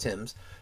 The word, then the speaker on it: Thames: In the fierce Battle of the Thames, and yes, it is pronounced that way, even though it looks like Thames, it's pronounced Thames, Tecumseh was killed.